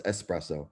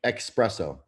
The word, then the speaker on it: espresso: laugh at that look it's not yes so it's espresso yeah yeah we're gonna come out with flavor gang expresso express yep expresso and everyone's going to mispronounce it on purpose because they have to that's the name of the product and they're going to look like idiots and it's going to